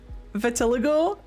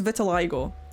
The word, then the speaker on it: Vitiligo: how intense it is I've never been able to pronounce that my mom had it my mom had veligo on her hand and seeing the word written down Vitiligo Vitiligo I'm pretty sure it's Vitiligo but I'm sure you guys